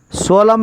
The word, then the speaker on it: solemn: N is a silent letter. Solemn. Solemn is a right pronunciation.